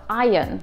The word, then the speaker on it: iron: В британском звук R не произносится, поэтому получается iron.